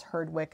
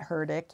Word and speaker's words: Herdwick: makes it less pleasant i think they pronounce this herdwick and not herdick you can never tell in england again coarse i think